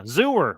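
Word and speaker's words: Xur: Yeah, Zooer rhymes with sewer, which is where his brain should be.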